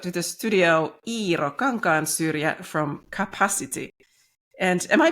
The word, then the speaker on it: Kapasity: bilingual because you know it's a word play with the word capacity so whenever it's in English I say capacity but as it's spelled